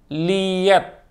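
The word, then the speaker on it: Leatt: Awalnya tuh gue mau ganti ke Liat. Liat apa Lit sih? L-E-A-T-T, gue bacanya Liat ya.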